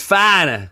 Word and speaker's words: Foreigner: I'm from Long Island, so it's foreigner. Okay. Foreigner. If you go to Boston, it's finer.